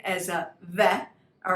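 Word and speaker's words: ב: with me excellent excellent now when we don't have a dot in it this letter actually becomes a v that okay instead of bet it's can you do that with me so when you create the bait the name doesn't change it just has two different sounds a bet and a vet so when you're creating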